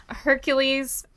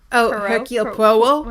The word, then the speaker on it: Hercule Poirot: And I get to Hercules Hercule Poirot? how's it pronounced?